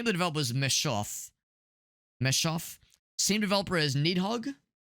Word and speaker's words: Messhof: And by the way, same developers as um how do you pronounce it? So the name of the developer is Meshoff.